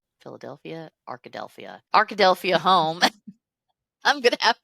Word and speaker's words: Arkadelphia: Arkadelphia. Arkadelphia. Arkadelphia. Probably like Philadelphia, except Arkadelphia.